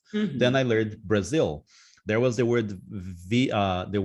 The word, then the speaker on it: Brazil: I don't know why I would say Brazil, but that was the way I pronounced. Then Mm-hmm. I learned Brazil.